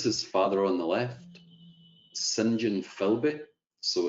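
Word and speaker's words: St John: this is his father on the left sinjin philby so it's spelt like scent john s t dot john but pronounced sinjin sinjin philby also known as sheikh abdullah so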